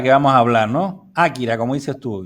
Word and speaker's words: Akira: que se llamaba kira tú dices akira porque es lo de akira porque así se dice en japonés tengo un amigo que llama akira watanabe y también en inglés la pronuncian akira es sobre todo japonés que es importante que desde el origen lo de akira es cuando los castellanos los hispanohablantes solemos convertir las palabras en llanas como no tiene la tilde